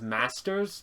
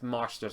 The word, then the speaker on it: Marsters: usually say the I I thought it was Masters but it's MERS apparently so we're going to